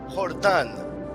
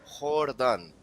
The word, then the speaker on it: Jordan: it's the same as Jordan. Wilmar Jordan. The J is silent for the Colombian striker of I think it's Arisha or Chennai. I'm not sure right now. But it is silent.